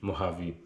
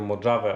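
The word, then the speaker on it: Mojave: Niektórzy mówią modweę, ale tłumacz mi tłumaczy, że Mohawi jest prawidłowo.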